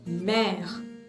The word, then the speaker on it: mer: There are many other words like la mer, M-E, accent grave, R-E, mer.